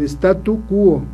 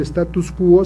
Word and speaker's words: statu quo: Entonces ahí tendría que ser, quiere mantener el statu quo, no el status quo, sino el statu quo, es decir, quiere que se mantenga la cosa o la situación o todo como está.